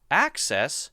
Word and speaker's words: access: However, many people will say it as excess, excess, and so that difference will be access stresses the first syllable, and excess sometimes stresses the second syllable, da.